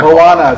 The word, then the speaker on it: Moana: Yeah, Mona, yeah, that looks Momoa, cool. I don't even know what to call it. I don't know how to pronounce it yet. Moana.